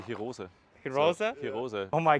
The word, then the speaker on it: Hirose: The funniest thing is the Germans say Hirose.